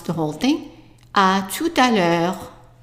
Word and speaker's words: à tout à l'heure: So imagine that there is no space here. A, tu, ta. And we already know this one is pronounced l'heure. So let's pronounce the whole thing. À tout à l'heure.